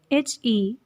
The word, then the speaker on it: heinous: word number 23 is h-e-i-n-o-u-s and the pronunciation of this word is heinous it is so easy